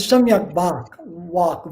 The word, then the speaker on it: Samyak Vak: The third one is Samyak Vak, V-A-K, but V in Sanskrit is pronounced like a W.